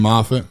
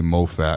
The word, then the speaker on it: Moffat: Brother and Moffat? Yep. Yes, sir. A couple people say Moffat, and I'm like, that can't be right.